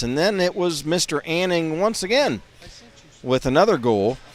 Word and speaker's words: Anning: of all for the Rangers was uh John Anning that's spelled a n n i n g Anning um he scored a power play goal